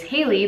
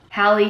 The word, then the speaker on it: Hallie: about name pronunciation because my name is Haley but it's spelled H al Li e like Halle so my whole life everyone's like Halle Halle Halle Hayley Hayley